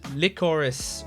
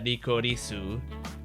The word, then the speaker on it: Lycoris: it's licorice recoil um if it was in English I would pronounce it like chorus recoil but uh the the logo had uh ricorisu recoil so I guess I guess it's licorice um and I have